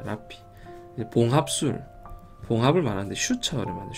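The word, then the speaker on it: -rrhaphy: 옛날에 저도 처음 할때 발음이 좀 어려워. 그냥 르하피를 외웠었는데, 이게 라피입니다. 라피.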